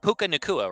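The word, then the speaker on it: Puka Nacua: I'm horrible with names, but Puka Nakua, right? Yep. That's how you pronounce his name.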